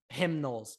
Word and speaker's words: Knowles: Ohio State's defense, I've just been blown away how the new D coordinator, Jim Knowles, has actually turned it around. All right, sorry, like, say his name right. Knowles.